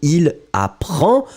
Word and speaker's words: il apprend: No S, you don't pronounce it, so il apprend, still the D should be here.